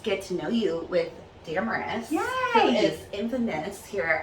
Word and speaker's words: Damaris: gonna learn just remember it rhymes with what i look like glamorous yeah her insta handle at glamorous part damaris the cutest thing ever